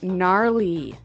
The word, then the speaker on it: gnarly: We heard the ski instructor say gnarly. Gnarly run. Yeah, gnarly. So an interesting word, it's spelled Gnarley. Okay, so, but you don't say gnarly. No. You say gnarly.